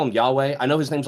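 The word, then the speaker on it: Yhwach: aren't there Penny's right his name is spelled like y-h-w-a-c-h but then when you hear them say it's like something like that so the letter B is not there his name's Yahweh and that's what I'm calling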